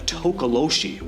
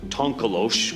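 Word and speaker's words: tokoloshe: It's called a tokoloshi, or tonkolosh, or tikoloshi. There are tons of different spellings and pronunciations, but they're mischievous and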